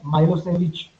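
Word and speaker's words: Milošević: Because of the narrow-minded Serb nationalists, it happened, which was called as Milosevic. Pronunciations अगर हम करेंगे इसको सेविक नहीं बोलेंगे, इसको सेविच बोलेंगे.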